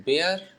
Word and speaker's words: bear: इस बेयर को कई लोग बियर भी कहते हैं, तो आप अपने हिसाब से प्रोनाउंसिएशन चेक कर लेना। बेयर बेयर तो बियर भी कह सकते हैं, बेयर टेस्टिमनी टू कई लोग बेयर करके प्रोनाउंस करते हैं, बेयर टेस्टिमनी टू।